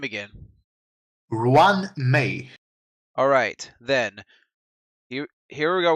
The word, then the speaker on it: Ruan Mei: Now, as I said before, can you help me pronounce her name again? Ruan Mei.